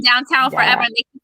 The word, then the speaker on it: Downton: When people said Downton Abbey, I'm like, why is everybody like saying Downton. that? Like, I thought it was like an English thing, like you know, saying it wrong. Yeah, but we enunciate, so it is downtown.